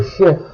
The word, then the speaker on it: chef: Here are some examples of words where the final letter is pronounced. Un truc, un dortoir, le chef, avril.